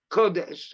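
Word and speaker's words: קודש: there's also word kodash now kodesh is not written with a verb it's got a holum which makes the same vowel the same vowel sound but it's just pronounced kodesh and it is it's not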